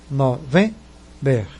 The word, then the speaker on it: November: E a pronúncia mais forte é o V, November.